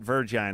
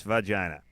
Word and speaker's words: vagina: And it's not virgina, it's vagina. Okay. All right. It's always trouble when they pronounce it virgina.